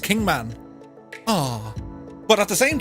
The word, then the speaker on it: Kingman: of kingman or kingman i thought i said kingsman it's like hey kingsman we're going to kingsman but it's actually pronounced kingman ah but at the same time oh and